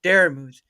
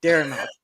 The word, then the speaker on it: Daramuth: a speech impedimency because you don't know how to say the word Daramuth and you say Daramouth, and I am sorely disappointed.